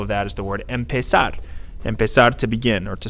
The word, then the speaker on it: empezar: The infinitive is pronounced empezar.